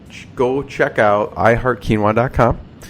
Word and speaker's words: Keenwah: just tell people go check out I heart quinoa calm like I said spelled phonetically ke E and W aah calm so